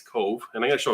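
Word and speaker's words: Cobh: So we're doing Cove, which is spelled C-O-B-H. And you're going to see a video where we say wrong the whole cruise or the whole vlog, but we eventually get it right. Yeah, we learned how to say it properly as we went throughout the day. It's Cove.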